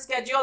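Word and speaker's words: schedule: तो American English वालों पर उनका मदर टंग इन्फ्लुएंस है, वो वहां से सुनकर आ रहे हैं स्केड्यूल, तो स्केड्यूल बोलते हैं। हमारे ऊपर ब्रिटिश इंग्लिश का इन्फ्लुएंस है, हम सुनते आ रहे हैं शेड्यूल शेड्यूल, तो शेड्यूल बोलते हैं।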